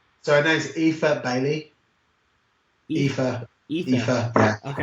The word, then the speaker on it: Aoife: So her name's Aoife Bailey. Aoife. Yeah. Okay. I used to call her Eofi because of the way her name's spelled. But it's Aoife. It's tricky.